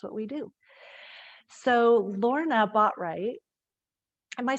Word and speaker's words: Botwright: So Lorna Botwright, am I saying that right, Lorna? Yeah, it's Botwright, yeah.